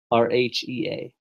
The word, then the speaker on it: Rhea: is it Rea? RHEA. They that silent H in there.